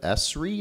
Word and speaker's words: ESRI: Am I pronouncing that right? ESRI. Well, yeah, ESRI is, I guess, the way they like to pronounce it.